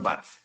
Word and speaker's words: Barth: No me llamo tío, soy el señor Barth. La S no se pronuncia.